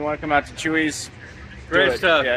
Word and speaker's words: Chuy's: to come out to Chuy's great stuff yeah it's not chewy food by the way it's spelled differently yeah Spanish good morning it is